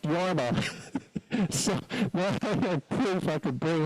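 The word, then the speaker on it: Jorma: was a record album by The Finnish artist yarma kakan and um she said all those years said on the record album J RMA but she thought it was pronounced jarma so she named her son JMA and she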